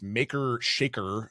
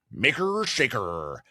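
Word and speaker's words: Makr Shakr: There is another model from the company that makes him, which is Maker Shaker. I'm pronouncing it that weird way because it's spelled MAKR space SHAKR and Maker Shaker.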